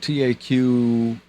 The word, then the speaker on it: Taqiyya: They believe in the, how do you pronounce that word? Taqiyya. They believe in Taqify.